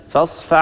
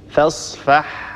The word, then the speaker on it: فاصفح: فإذا مر معنا مثلا قوله تعالى فاصفح عنهم، البعض هنا لا يبين الحاء، يقول هكذا فاصفع عنهم، طبعا هذا أسهل فيدغم الحاء في العين، هذا خطأ، ننطق الحاء وننطق بعدها العين، فاصفح عنهم فاصفح عنهم، ولا نقول فاصفع عنهم، ننتبه لهذا الأمر،